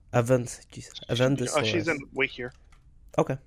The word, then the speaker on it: Avendesora: Avendesaurus. Avendesora.